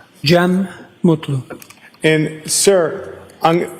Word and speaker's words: Jem Mutlu: Jeem Mutlu.